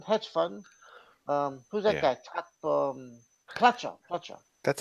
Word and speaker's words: Pletcher: Pletcher. That's how you pronounce it.